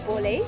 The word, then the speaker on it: Bolé: So this How do you is pronounce it first? this is Bolé Bolé.